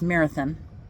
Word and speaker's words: Marathon: away from here, northeast, that is spelled marathon but pronounced marathon, just like I live